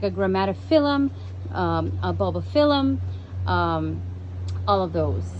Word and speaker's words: Grammatophyllum: I've learned if you have a phylum at the end, it's the short I sound.